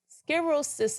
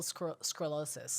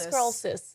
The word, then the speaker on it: sclerosis: end up bleeding too try to say it like scroll like i'm reading a story oh scrolls oh i see it multiple sclerosis oh i like it